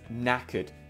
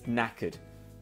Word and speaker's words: knackered: sparky good it is knackered remember the k is silent the k is silent it's knackered okay knackered um at